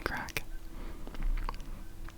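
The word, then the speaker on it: craic: What's the crack, lads? Which is not C-R-A-C-K. That's not how that's spelled. It's spelled C-R-A-I-C. It's Irish. Gaeilge.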